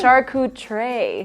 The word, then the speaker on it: charcuterie: so it's the komau charcuterie board but you found out that there's a different way to sit with me oh yeah it's a shark tray is the right way to say it and charcuterie means deli